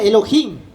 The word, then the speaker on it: Elohim: Se pronuncia Elohim.